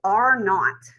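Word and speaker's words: R0: reproducibility rate is called R not okay R Subzero or R not I always call it R not um some I actually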